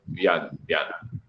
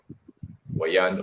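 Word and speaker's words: vyana: Biyan, B-Y-A-N-A or biyan. So, you know, pag pronounce sa B is W. Wayan or biyan.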